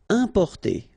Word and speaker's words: importer: Importer, okay, IM, then a consonant, so it's the nasal un, importer, importer.